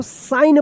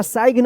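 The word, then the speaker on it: sign: तो क्या होगा कि ये जी जो है ना साइलेंट रहेगा। क्या पढ़ेंगे इसको? साइन पढ़ेंगे इसको। सिग्न या साइगन मत पढ़िएगा।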